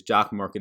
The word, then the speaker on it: Jock MKT: the apple store today it is jock market it is spelled jock and then mkt link down below you